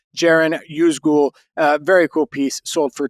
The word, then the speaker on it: Ceren Yüzgül: And I did some looking on ChatGPT, and I learned that the C in Turkish is pronounced like a J. So it is Ceren Yüzgül.